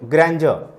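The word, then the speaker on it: grandeur: अब देखो ग्रैंडर, इसको हम ग्रैंडर पढ़ते हैं बच्चे, ग्रैंडर, ठीक, क्या पता है, ग्रैंडर नहीं पढ़ते इसको, जब हम प्रोनाउंसिएशन जब हम इसका करते हैं तो इसका उच्चारण ज होता है, ग्रैंडर।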